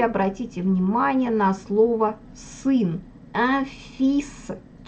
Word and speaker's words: fils: То есть буква «s» на конце читается, а буква «l» в этом слове не читается вообще.